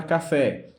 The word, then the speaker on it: café: A palavra café, a palavra fé, a sílaba fé é a mais forte. Então, nesse caso, ela é uma oxítona e, como terminado em E, ela é acentuada.